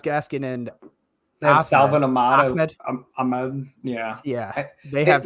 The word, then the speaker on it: Ahmed: I think they have Myles Gaskin and they have Salvin Ahmed. Yeah. They have. It never made sense to me because it's spelled Ahmed, but all the announcers always said Ahmed.